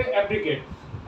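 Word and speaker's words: abrogate: बेहतर हो सके करें, तो हम इसको पढ़ेंगे एब्रीगेट।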